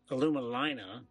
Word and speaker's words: Alumalina: day at the Aluma alumina it's called we so I apologize if I have mispronounced it before but it's like aluminum in Carolina so alumina um there are 270